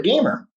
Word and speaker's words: GMR: foundation called the warrior gamer foundation and it's spelled warrior gmr foundation just like neutral gmr but it's obviously pronounced gamer and what the idea